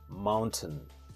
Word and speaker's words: mountain: have is mountain mountain people pronounce it Incorrect and they say Mountain T it's not t it's t mountain the correct pronunciation is mountain mountain the next word